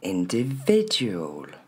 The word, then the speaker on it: individual: Tous ces petits i, faudra pas les dire i, c'est bien le son e. N t v, il porte l'accent tonique.